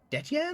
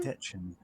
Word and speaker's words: Detchen: Okay, how do you pronounce that name? Detyan? Detchen. Yeah, Detchen.